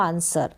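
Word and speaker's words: answer: जवाब जो भी हम उत्तर देते हैं वह आंसर तो क्लियर हो गया होगा यहां पर अगर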